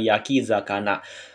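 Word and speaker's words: 焼き魚: ya minasang kanji membakar maka dia akan dibaca Yaki zana minasang Yaki zakana ada pula nanti k-nya itu dihilangin minasang kanji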